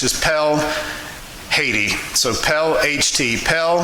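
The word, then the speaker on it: Perle: dot h t so that's actually pel that's how it's pronounced in french is pell haiti so pel ht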